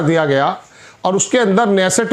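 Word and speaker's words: Knesset: गया और उसके अंदर नेसेसट में उनकी पार्लियामेंट में वैसे तो एन साइलेंट रहता है इसमें वहां उन्होंने कहा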